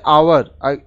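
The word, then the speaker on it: hour: अब देखिए इसी तरह से यहाँ पे आवर, एच साइलेंट है, उच्चारण है आवर, फिर से ये स्वर ध्वनि है तो यहाँ एन लगेगा।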